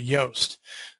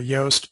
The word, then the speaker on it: Yoast: And we're going to see that it's the very first, WordPress SEO by Yoast by Joost de Valk. Probably say Yoast, I think is actually how it's said, which is why it says Yoast there.